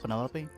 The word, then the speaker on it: Penelope: Penelopey. Officially, yes, but I never can be bothered with all four syllables of it.